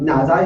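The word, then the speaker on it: 哪吒: So um Naza is how we call them in Cantonese or how I pronounce in Cantonese.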